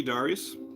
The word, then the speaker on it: Darius: And also, come to find out, it's actually, if you go by the Japanese pronunciation, it's pronounced Darius. Who knew? Yeah, G Darius.